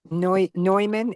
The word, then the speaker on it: Neumann: Neumann, N-O-Y-M-A-N. Oh, sorry. Yeah, that's the German pronunciation.